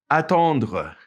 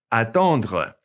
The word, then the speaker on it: attendre: Okay, notice it ends with that RE and it's pronounced kind of glottally, attendre. It's kind of back in the back of your mouth, okay?